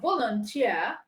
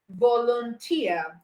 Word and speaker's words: volunteer: stressed syllable we are volunteer volunteer all right three syllables also that means that here is the last syllable and he has the stress on it and we have Japanese